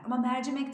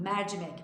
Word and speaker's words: mercimek: O da kapalı eline mercimek derken bir cimbit değil mercimek oradaki e açık mercimek mercimek de değil mercimek